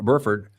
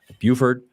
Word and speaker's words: Burford: Uh left guard they got Spencer Burford Buford. Uh got to get the pronunciation. I'm going to leave that to you as a as a radio guy. I think you got it right the first time.